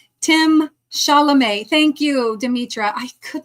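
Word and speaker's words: Chalamet: Shalame, right, Tim Shalamé. Thank you, Dimmitra. I could not remember how how to pronounce it, but anyway.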